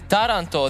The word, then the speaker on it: Taranto: The Taranto, the city in Italy, the stress is on the first syllable.